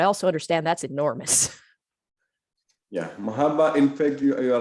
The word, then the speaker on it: Mahabharata: Yeah, Mahabharata, in fact, you are right. Bhagavad Gita is a part of Mahabharata, which has got 100,000 verses actually, Mahabharata.